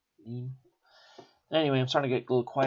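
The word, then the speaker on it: ligne: This 1st Battalion of 61st Line Regiment, I guess, but I think it's pronounced lean. Lean.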